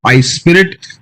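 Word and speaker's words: iSPIRT: a not-for-profit think tank called ice spirit uh it's spelled slightly differently isp irt uh it stands for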